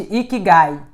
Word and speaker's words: ikigai: Bom, em japonês, eu não sei se vocês já ouviram falar de Ikigai. Ikigai, se escreve I-K-I-G-A-I.